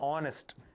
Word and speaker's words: honest: Same thing applies for honest. H is silent, so we say he is an honest man.